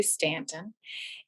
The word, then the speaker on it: Staunton: multi-purpose room here in stanton virginia that's spelled staunton but it's actually stanton and that is the